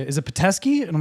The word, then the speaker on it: Peteski: Peteski.